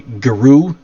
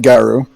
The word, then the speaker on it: guru: okay a lot you you'll hear a lot of people say guru geru and and porter you pronounce it gauru why i pronounce it garu because uh i seem